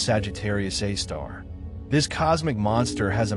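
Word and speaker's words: Sagittarius A*: At the very heart of the Milky Way lies something extraordinary and terrifying, a super massive black hole called Sagittarius Asterisk, pronounced Sagittarius A star.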